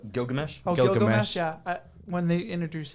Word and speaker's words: Gilgamesh: my favorite scene is Miligash. I don't know how to say his name. Gilgamesh.